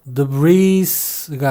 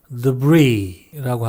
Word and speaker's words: debris: Debris, chassis, chassis, rendezvous, Arkansas, bourgeois, viscount, Louis, Louisville, Louisville, Louisville, 이건 자네라는 말이죠. S가 발음되지 않는 그런 말이기 때문에 debris가 아니라 debris라고 합니다.